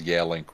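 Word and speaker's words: Yealink: of the three people I know that actually pronounces Yale link right I don't even say yeah link that that is the proper pronunciation I say yellow really also good on you man hey you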